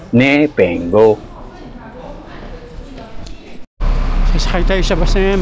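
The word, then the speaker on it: Bipenggou: po tayo sa bus papuntang Nepengo. Yun daw po ang tamang pag-pronounce ng lugar na yon. ni pengo.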